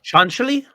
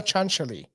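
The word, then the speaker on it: Cianciulli: name pronunciation as leonardo chancelli yep leonardo chancelli did you hear it did you yeah leonardo chancellory even though it doesn't look like it at all she she is uh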